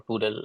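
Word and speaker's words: PDAL: this but a brief introduction about pal or poodle as it's pronounced as I said earlier it's a library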